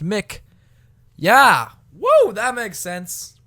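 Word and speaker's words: MCIK: Hey, it's that boy, M.C.I.K, because apparently M.C.I.K is pronounced Mick.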